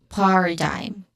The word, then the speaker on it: paradigm: Pronunciation wise, paradigm. So, paradigm. First syllable is stressed here, par, which has a short ah sound, and then which is a schwa sound. Okay? Short, quick, and stressed vowel sound. And then dime, which is a diphthong sound, I.